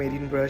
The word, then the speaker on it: Edinburgh: English স্পেলিংটা দেখে এডিনবার্গ মনে হলেও স্কটিশ প্রোনাউন্সিয়েশন কিন্তু এডিনব্রা।